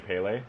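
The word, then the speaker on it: Pelé: The commentator kept saying Pele.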